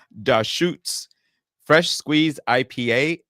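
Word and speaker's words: Deschutes: And the best part is the website tells you how to pronounce it, and it's Da Shoots Fresh Squeeze IPA.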